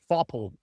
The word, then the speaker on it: Faupel: But the first person I can see is actually Johannes Foppel. I hope I didn't mispronounce that. Welcome, Johannes. How you doing? Hi, thanks. Yeah, Johannes Faupel is in German pronunciation, but it's totally okay.